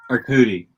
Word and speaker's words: Arcudi: Arcudi.